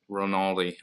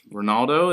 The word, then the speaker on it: Ronaldi: That game, A Way Out, I talked to Rob Ronaldi. I always want to say his last name wrong. Ronaldo, is it? That's what that's what I always say. I always call him Ronaldo.